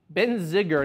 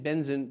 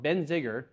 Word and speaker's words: Benziger: number two this is the Benziger not been benzene but I can't even pronounce wrong Benziger behringer family winery I